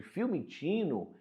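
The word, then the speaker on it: Fiumicino: Em julho de 2023, no aeroporto de Filmino, como a gente pronuncia aqui na Itália, em Roma, aconteceu uma discussão entre a família do ministro e a família do empresário Roberto.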